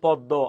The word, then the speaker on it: পদ্ম: যে শব্দগুলো আছে তাহলে যদি কোন একটা শব্দের মাঝখানে অথবা শেষে যদি ম ফালা থাকে তাহলে ওই ম উচ্চারিত হয় না যে বর্ণের সাথে আসছে ওই বর্ণটা দুইবার উচ্চারিত হবে তাহলে এখানে কোন ম